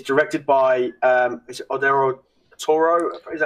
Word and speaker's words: Guillermo del Toro: It's directed by is it Odero Toro? Is that how you pronounce his name? Guillermo del Toro. Yeah, that's it. Guillermo del Toro.